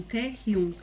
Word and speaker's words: Taehyung: Como é harmonizado com U, muita gente fala Hyun, Taehyung, mas o certo é Taehyung.